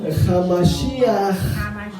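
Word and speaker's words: המשיח: Hamashiach, la J final es bastante fuerte, es casi como sonando a G.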